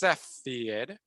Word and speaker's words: Cepheid: that is a crazy looking word but it's pronounced cepheid so the cepheid variable has a very nice